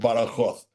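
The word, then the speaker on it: Badajoz: I went to live in a town in the southwest of Spain called Baroth which is spelled bad jaw uh and is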